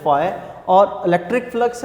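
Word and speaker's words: phi: Greek language का word है, pronounce आपने इसको करना है फाई।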